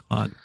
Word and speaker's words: Claude: I hadn't, Um, because when you see it, it's spelled so differently that you don't yeah. make that connection. But yeah, Claude.